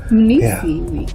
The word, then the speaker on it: Mnisi Weeks: Professor Mnisi Weeks? Close. Mnisi Weeks, yeah.